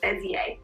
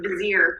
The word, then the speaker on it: Bezier: game by bezier games which we just learned how to say it's like bezier we've been saying like vizier for far too long silver bullet has quickly